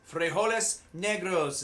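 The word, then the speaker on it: frijoles negros: next ingredient black beans frejoles negros is how they say it in espanol great alternative to meat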